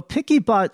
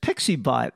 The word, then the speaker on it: PiccyBot: blind using screen readers many screen readers pronounce it as pixie bot and when I was